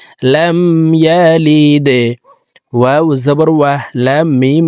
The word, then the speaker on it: لم يلد: লাম দাল জেরে লিদে, লাম ইয়ালিদে। দাল কলকলার হরফ নিচের দিকে ধাবিত করে ধাক্কা দিয়ে উচ্চারণ করতে হবে। লাম ইয়ালিদে।